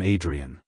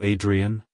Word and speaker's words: Adrienne: to pronounce it correctly emphasize the I sound at the beginning followed by a soft Dre and ending with a clear n like hello Adrien goodbye Adrien if you found the